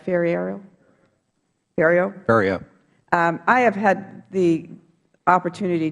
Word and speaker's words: Ferriero: Ferrero, did I pronounce that right, Ferriero? Ferriero.